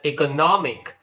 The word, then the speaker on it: economic: Force for example economic so here the last I is the suffix so the syllable which precedes before this I is NM n o m so that's why you speak it as economic right conversion the word conversion